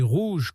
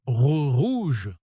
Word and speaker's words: rouge: Si vous prononcez rouge comme un espagnol, en mode rouge, en roulant le R comme en espagnol, ça sonne faux tout de suite. Et si vous le dites comme un anglais, en mode rouge, avec un R doux et arrondi, pareil, ça ne passe pas.